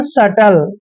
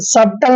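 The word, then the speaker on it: subtle: बी टी एल ई यहां पर ध्यान दीजिए कि टी से पहले क्या आया है बी तो बी साइलेंट रहेगा इसको पढ़ेंगे हम सटल क्या पढ़ेंगे सटल सबटल नहीं पढ़ना है सटल पढ़ना है सीधा सटल क्लियर अब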